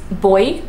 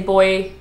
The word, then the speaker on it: buoy: every letter you know another famous one is boy so I be you oh why so it's like the one that floats in the ocean Australians say boy Brits say boy which